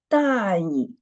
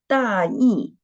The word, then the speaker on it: 大意: And this word, when we read it, 大意, it means careless. But when we read it, 大意, it means rough idea.